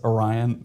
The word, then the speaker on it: Orion: was like I wish you knew how to pronounce Orion.